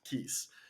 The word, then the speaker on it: Cios: with me Terry Wang co-founder and CEO at Keys the Irish spelling CIO pronounced Keys uh we'll definitely want to hear why that